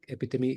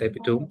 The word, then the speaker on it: epitome: Epitome is the correct pronunciation and not epitome, which I used the very first time.